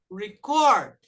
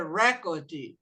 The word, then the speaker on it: record: Já gravei para vocês que o record, quando é verbo, a sílaba forte é no record. Quando é substantivo, é record.